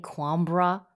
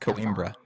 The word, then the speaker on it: Coimbra: We just played Quambra. I think it's pronounced Coimbra.